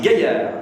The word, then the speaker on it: Gaillard: Alors c'est Gaillard, G-A-I-2-L-R-D, comme le château. Comme les gaillards disent.